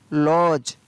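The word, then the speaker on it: lodge: BUDGET, budget, budget सुनते हैं हमेशा, तो उसकी स्पेलिंग होती है BUDGET, बजट, तो यहाँ पर D है वो साइलेंट। LODG, लॉज।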